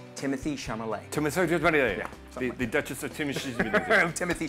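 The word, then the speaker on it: Timothée Chalamet: It's pronounced Timothy Chalamet.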